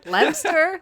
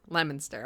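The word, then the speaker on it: Leominster: I have pronounced it Lemster, Leo Minster, and everyone I talk to from Lemonster is like, no, it's pronounced Lemonster.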